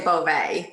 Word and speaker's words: Bouvet: Well, for the pizza guy, we say Bouvet. We make it pretty simple.